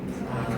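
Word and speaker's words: prime: 이거는 영어로 프라임이라고 읽으면 돼. 뭐라고 읽는다고? 프라임. 프라임. 그래서 A프라임이라 읽을 거야.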